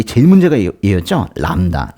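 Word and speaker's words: λάμδα: 얘 제일 문제가 였죠 람다 람다는 르 발음이 나는데 람다이 르 발음이 나는데 그 르 발음이 사실 두 번나요 그래서 초성에서 한 번 나고 그 앞에 단어 앞에 단어에 받침으로 리를 하나 빌려 주는 그런게 바로 람다입니다 람다 도릴 발음이 나오고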